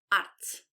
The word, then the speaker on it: arte: Antes de começar, gostava que analisássemos juntos a palavra arte. A palavra arte vem do latim e é cognata de art, do inglês. Agora repara na pronúncia. Arte. Arte. Arte. E diz comigo arte.